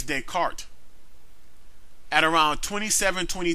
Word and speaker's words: Descartes: mispronounce Rene Descartes name it's not day car is dead cart at around twenty seven